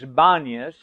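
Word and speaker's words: Banias: Today it's known as Banas because the Arabs can't pronounce the word or the letter P. So there's a linguistic shift from a P to a B.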